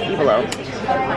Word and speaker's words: Ivalo: We were pronouncing it wrong the whole time. It's not Ivalo, it's Ivalo.